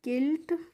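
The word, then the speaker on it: quilt: यू आई एल टी इसको पढ़ते हैं हम किल्ट और किल्ट का मतलब होता है रजाई कंबल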